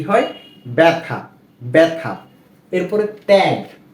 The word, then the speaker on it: ত্যাগ: এরপরে ত্যাগ, ত জফলা আকার ত্যাগ, ত্যাগ।